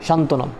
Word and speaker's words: সান্ত্বনা: না করা হয় না যেমন সান্ত্বনা এখানে সান্ত্বনাতে দন্তান ত এর সাথে একটা ব যুক্ত আছে কিন্তু যখন উচ্চারণ যখন লেখা হলো তখন ব এর কোন অস্তিত্ব নেই আমরা দেখে দেখেছি যে